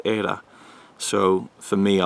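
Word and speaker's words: Eira: is era era Kelly spell II IRA which pronounced era which is it has basically ties in wales and norway it's always the welsh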